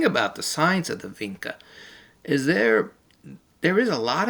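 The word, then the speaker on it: Vinča: Alright, here's our video today, the science of the Vinca. Or some people pronounce it Vinca, with a V, like a V. A lot of natives in the area would call it Vinca.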